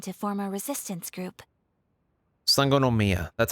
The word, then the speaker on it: Sangonomiya: on watatsumi island to form a resistance group sangonomia that's how you say it okay to say